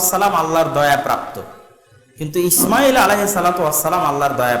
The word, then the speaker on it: ইসমাইল: আসসালামের একজন সন্তান ইসমাইল মোটা করে আমরা যেটা শুদ্ধ উচ্চারণ ইসমাইল এইভাবে না করে তাদের কিতাবে ইসমাইল এরকম এস এইচ দিয়ে বড় করে লেখা আছে ইসমাইল তার একজন সন্তান আচ্ছা